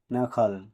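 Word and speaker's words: knuckle: Letter D silent থাকবে কে এন ইউ সি কে এলই নখল মানে আঙ্গুলের গার্ড এখানেও কে লেটারডি সাইলেন্ট থাকবে।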